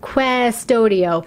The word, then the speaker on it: Qustodio: So another parental control app that is very popular is called Qustodio. It's with a Q, like Qustodio. It's kind of a hard one to pronounce.